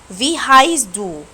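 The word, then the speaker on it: Wie heißt du: عندنا أول سؤال اسمه في هايست دو. في هايست دو، ركزوا ان ده حرف الاس 6 عشان كده انا نطقته زي الاس مش بي.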